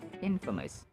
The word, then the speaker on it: infamous: really funny right because it's just like a combination of in plus famous but it's pronounced as Infamous yada yada Amy Emy